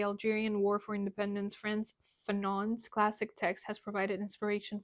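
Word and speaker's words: Fanon: do this okay so France fenon so I was right um that's the French pronunciation so he wrote this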